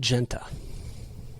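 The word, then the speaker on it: Giunta: but i talked to ben genta i believe that's how he pronounces his name it's spelt g-i-u-n-t-a and he has been a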